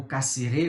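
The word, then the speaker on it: Cassirer: E aqui me parece que a gente pode fazer uma relação muito próxima com o modo de Cassira, né, ou Cassiré, como alguns pronunciam, entender o simbologismo da linguagem na nossa espécie.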